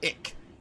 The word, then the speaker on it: ik: In German it's ich, but in Dutch it's ik.